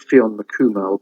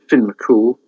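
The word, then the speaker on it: Fionn mac Cumhaill: Unlike Welsh, which is sort of you pronounce every letter, Irish, they seem to bung in half a dozen letters when one will do. So Fionn looks like Fionn McCumel, but it's Finn McCool.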